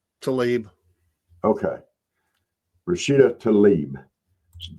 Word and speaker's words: Tlaib: It's off Fox, but the squad member Rashida Tlaib, however you say her name, is it Tlaib? Tlaib.